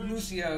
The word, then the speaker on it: Lucio: And No, I used to main Lucio. I feel like if anybody doesn't know who the Luch is, The I Luch. call him Lucio is the real pronunciation, but I call him Lucio.